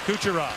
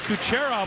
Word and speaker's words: Kucherov: And it bounced off the stick of Kucherov. He was Kucherov when he played internationally, but he's asked for the more North American style pronunciation.